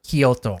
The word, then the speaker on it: Kyoto: understand uh like I I actually think Kyoto Kyoto you you said earlier Koto Koto yeah right and if you're coming from America you're going to pronounce it K yeah not even Kyoto Koto K yeah yeah and so like I just wish they would pronounce it the way that like a tourist would understand cuz those announcements are